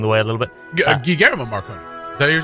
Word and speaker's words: Guillermo: Yeah, how do you pronounce that? Guillermo? Guillermo.